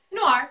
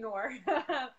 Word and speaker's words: noir: Noir. Is that how you say it? Noir. Yeah, you did good. Noir. There we go. I was saying Noir, which is not right, I hear.